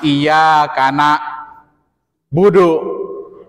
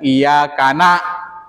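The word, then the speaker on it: إِيَّاكَ نَعْبُدُ: surah al-fatih iyaka na'budu hati-hati tuh kita kalau baca Quran jangan iyaka na budu wa iyaka n wa iyaka nasta' bacanya iyaka na'budu wa iyaka n jangan iakana iyakana itu apa iyaka kepadamu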